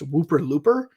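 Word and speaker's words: ウーパールーパー: it the name comes from something in Japanese pronounced Whooper Looper which was a marketing term they created in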